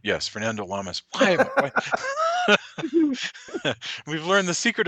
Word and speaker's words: Fernando Lamas: Yes, Fernando Lamas.